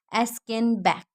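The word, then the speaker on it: Aschenbach: Actually, there might be there might be some error in pronunciation of his name. Okay, so I hope you understand that it's Gustav von Askenbach.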